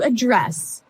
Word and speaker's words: address: address has the Str the stress on the second syllable okay address yes and